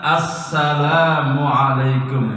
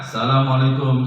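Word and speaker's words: السلام عليكم: mengatakan salam ya Jadi yang benar Assalamualaikum dimulai dari huruf alif ya saya sering dengar Asalamualaikum Asalamualaikum Kalau di luar salat memang tidak benar tapi tidak sampai membatalkan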